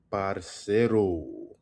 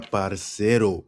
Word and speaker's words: parce: Or parce for short. Parce. Emphasis on the parce, all right?